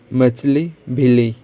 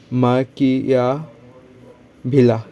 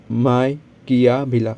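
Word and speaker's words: Machiavelli: सकते हैं the Indian मछली भिली, ठीक है, मछली भिली। मछली भिली इसका प्रोनाउंसिएशन देख सकते हो क्या है, माकिया भिला, ठीक है, माकिया भिला, माइकिया भिला।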